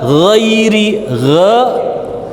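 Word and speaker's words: غير: Nah, sama ghairi bukan i, ghairi la, ghai. Ya, punggung lidahnya rasakan.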